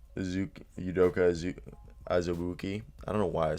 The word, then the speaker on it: Azubuike: And then it's Udoka Azubuike. I don't know why I'm screwing up. I literally go to school at KU and I know how to say it. Udoka Azubuike.